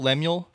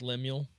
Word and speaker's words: Lemuel: Lemuel? Mm. I'm not sure. I wasn't sure how to pronounce it. I'm pretty sure it's Lemuel. Lemuel?